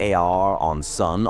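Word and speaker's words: Aaronson: Kenny Arensson, pronounced AR on Sun on bass.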